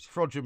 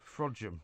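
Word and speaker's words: Frodsham: settle a bet on how you pronounce frojim uh and he pronounced it the proper way right fraud Jim is correct isn't it well which other way can you pronounce well I don't know is it spelled f-r-o-d-s-h-a-m yes it is yeah fraudium and and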